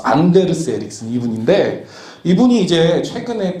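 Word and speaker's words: Anders: 이분 이름이 안데르스 에릭슨이에요. 노르웨이 분인가 그랬어. 그래서 앤더스라고 읽었다가 창피당했었어. 안데르스 에릭슨 이분인데 이분이 이제 최근에 픽이라는 책에서 어떤 말씀을 하시냐면 이런 얘기예요.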